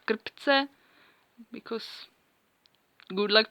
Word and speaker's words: krpce: check they are called kryptz because good luck pronouncing that because czech has a syllable syllabic r so it's actually two syllable scripts and they are